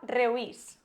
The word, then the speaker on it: reuís: es un diptongo, y siempre que los diptongos están formados por dos vocales cerradas, siempre se va a acentuar la segunda.